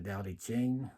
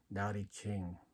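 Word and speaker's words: Dao De Jing: talked about things like the dowdy Jing which was the way of change right d-a-o -d-e uh c-h-i-n-g daddy ching or starts with t apostrophe Ching or sometimes the Dao in a day is spelled with a t but I'm Vietnamese so I must stick with the D the other chain the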